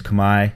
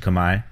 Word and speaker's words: Khmer: to that era a pinit Orchestra is the Kamai equivalent oh by the way it's Kamai spelled khm e r but pronounced Kamai it's the Kamai equivalent of the Thai pin